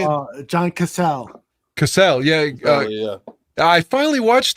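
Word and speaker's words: Cazale: Cazzetti, the guy that played Fredo? How do you say it? John Cassell.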